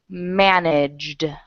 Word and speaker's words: managed: going to pronounce it managed managed okay so now try that managed okay you're adding the ID ending and it's not an ID ending it's a d managed D manage D